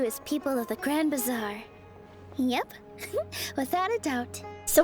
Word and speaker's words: Bazaar: what is the grand bizar she called it great bizaar earlier and I thought I'd been saying it wrong the whole time it is the Grand Bazaar isn't it my goodness well let's